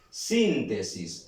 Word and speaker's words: síntesis: tengo la palabra síntesis síntesis muy bien practicamos la acentuación síntesis suena fuerte aquí acento identificó el acento luego y